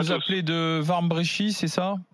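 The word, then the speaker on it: Wambrechies: appelez de Warmbrechy, c'est ça? De Vambrochy, oui. Dans le Nord. Warmbrechy, pardon d'avoir mal prononcé.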